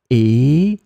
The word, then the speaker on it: et: It will be pronounced e, and it means and.